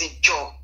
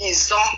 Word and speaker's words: Izon: Izon is the white people. It was when the white people came. They pronounce it as Ijaw. In the white man pronunciation is Ijaw, but the real pronunciation is Izon.